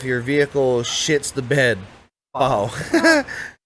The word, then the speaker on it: pau: Pau. Pronounced pau generally translates to no more, all gone, or time's up.